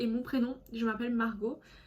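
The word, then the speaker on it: Marjaux: mon prénom, je m'appelle Margot. Margot qui s'écrit M-A-R-J-A-U-X et non O-T comme certaines.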